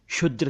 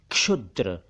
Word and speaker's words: क्षुद्र: एक शब्द है क्षुद्र कुछ लोग क्षुद्र कुछ लोग शुद्र कह देते हैं जबकि ठीक नहीं है वो यह है क्षुद्र क्षुद्र यानी बहुत छोटा माइन्यूट